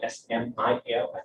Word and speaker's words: SMIL: 3d generated model so we call it smile smile when i pronounce it correctly but um if you